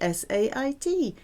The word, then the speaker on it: sait: It sounds the same as je sais, but spelt with a T, S-A-I-T.